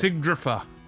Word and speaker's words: Sigurdurfa: That is how it's spelled. Sigurdurfa. Sigurdurfa. Sigurdurfa. Because there's an R before and after the D.